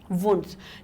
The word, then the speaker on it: Wundt: यहाँ पे ये थोड़ी सी स्पेलिंग हो गई है, WUNDTH, वुंट्स, ठीक है, इसको क्या नाम आएगा, वुंट जी।